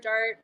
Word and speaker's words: DART: But so we used to have a lowercase d, and people would always be like Dart, we can't pronounce it. I'm like, no, it's just Dart.